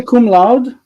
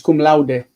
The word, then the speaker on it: cum laude: You know, it's Latin. It's cum laude. I know, but Americans say cum laude. I was just thinking. I was like, if it were laud, it would be L-A-U-D. There wouldn't be any e on the end of it.